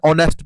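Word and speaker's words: honest: all must respect an ऑनेस्ट person क्योंकि एच ज हैगा थे साइलेंट ंदा है ऑनेस्ट एच ज हैगा ऑन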